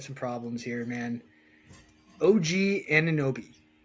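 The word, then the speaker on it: Anunoby: OG Aninoi, Indiana.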